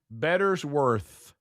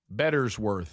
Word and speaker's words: Bettersworth: Bettersworth. Bettersworth. Where'd that come from? They're telling me how to say it on Tex Nation. Bettersworth Auditorium. Yeah, it's better and then worse.